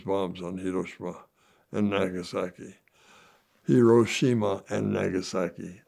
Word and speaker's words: Hiroshima: on hirosa and Nagasaki hirosima and Nagasaki I was pronouncing it in Japanese but uh uh so